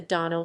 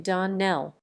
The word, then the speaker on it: Donnell: morning connected with the Donnell children. "Clarice Almira told me that you pronounced our name Donnell. Now, Miss Shirley, the correct pronunciation of our name is Donnell.